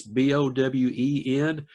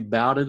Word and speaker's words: Bowen: It's Bowen. I get called Bowden a lot of times. No, that's funny. Most pastors will introduce me as Bowen, and I have to correct them.